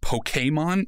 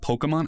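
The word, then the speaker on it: Pokémon: the five people who are gonna comment it's pronounced pokemon not pokemon i know i'm just i'm not obnoxious originally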